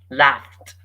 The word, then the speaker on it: laughed: Laughed. By the way, the ed is pronounced as t.